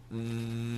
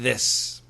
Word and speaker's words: this: aspirated with this or this which is correct th h i s this this right the vibrated so is there a